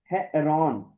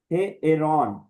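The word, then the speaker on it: ἱερόν: इस वजह से अयोटा को भी अलग से प्रोनाउंस करेंगे। इ्सिलोन को भी अलग से करेंगे और अयोटा के ऊपर रफ ब्रीथिंग है तो हे एरोन ठीक है।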